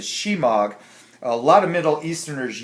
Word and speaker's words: Shemagh: It's pronounced Shemagh. I kind of say smog all the time, but it's a Shemagh.